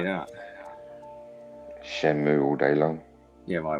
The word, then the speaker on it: Shenmue: would say and the way that it's wrote in japanese as well is shenmue and considering it's a japanese game i would say that is the correct way to pronounce it and i've always said